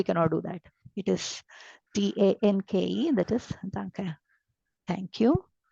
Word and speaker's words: Danke: The sound of E is A. Okay. I will not follow the pronunciation sounds there for all the vowels. I will completely pronounce the vowels. So I say danke. It's not danke. Okay. Don't swallow this E.